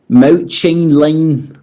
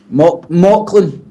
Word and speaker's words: Mauchline: I would say Mouchline... I can't even say it. Mouchlin. Mauchline. Mauchline. That's it, mate. Mauchline, I would believe. We'll go with Mauchline.